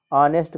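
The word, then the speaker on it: honest: ऑनेस्ट कहा जाता है, तो ऑनेस्ट जो है हम ऐसे लिखेंगे, ऑनेस्ट, ठीक। उसका प्रोनाउंसिएशन कैसे करेंगे, हिंदी वर्णमाला के आ से करेंगे, ठीक है।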